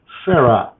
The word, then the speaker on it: Sarai: call this Abraham's wife Sarah. But most agree that the Hebrew pronunciation of the previous name is Sarai.